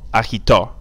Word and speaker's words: agitó: Listen to the pronunciation. Trató, tomó, agitó. The accent's on the last word, that's why there's a stress there on the last letter, excuse me.